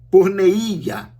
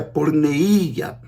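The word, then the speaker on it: πορνεία: Para a prostituta em grego, a palavra é porneia, que pronunciado em português se fala normalmente porneia, porque aí a acentuação recua quando se faz a tradução, né? Em grego é porneia, de onde vem a tradução portuguesa porneia, que quer dizer o quê?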